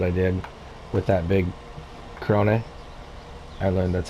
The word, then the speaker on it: Krone: I think I had someone tell me Krone is how you actually pronounce that. So if I'm wrong, you guys let me know in the comments and put the proper like enunciation on the E for me.